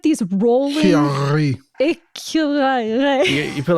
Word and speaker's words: écureuil: So I want you guys to try and pronounce squirrel. All right. You ready? Écureuil. E-Q-R-E. Écureuil. No, but there's like these rolling... Chiari. Écureuil.